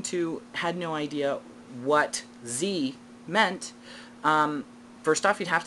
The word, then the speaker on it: ze: So for myself, instead of he, she, I like Z, Z-E, that's how it's spelled.